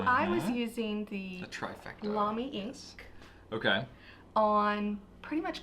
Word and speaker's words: Lamy: Except I pronounced it wrong. Pronounced it Lammy. Or Lamy, as I hear sometimes. Lamy.